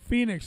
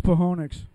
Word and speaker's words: Phoenix: Phoenix, the O is silent. Yeah. Hey, Jeff. I thought it was Pahonix.